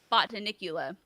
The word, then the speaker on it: Botanicula: their children because it's called i mean like button nicola was was a game man it was oh that's how you say it okay bought to nicula yeah play that one but yeah it looks